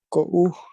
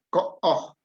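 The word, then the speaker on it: ko'o: Kaan, que el, wiish, ko puuk. Ok. La tercera y la cuarta me la leíste diferente. ¿Puedes repetir? Wiish, Wi'ish. wiish y ko Es o. Ko-o.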